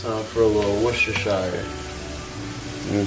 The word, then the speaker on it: Worcestershire: So now, it's time for a little Worcestershire. You know what I'm saying? Yes, it's pronounced Worcestershire. Not Worcestershire. I mean, you can say Worcestershire. I ain't make the word up, so I just say Worcestershire.